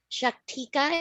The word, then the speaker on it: Shaktika: Shaktika is how she pronounced her name on the voicemail recording.